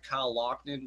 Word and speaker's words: Loughnane: Kyle Loughnane. Yes, Kyle, I pronounced it right for once.